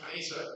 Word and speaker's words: Weser: Weser. Yes, pronounced Weser in German.